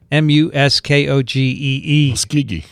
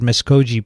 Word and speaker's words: Muskogee: country singer meryl haggard if you had you would know how to pronounce m-u-s-k-o-g-e-e and he i i said miss koji probably and everyone's cringing and he sends a link to a youtube video and oki from muskogee that's the way i